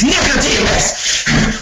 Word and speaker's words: Nicodemus: It's Nicodemus. When you refer to him, you make sure you pronounce his name correctly.